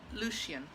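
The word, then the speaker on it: Lecien: Okay, first of all, the amazing, is it Lucian or Lessian? I'm not really sure. Lucian. Lucian, okay. That's how they pronounce This it.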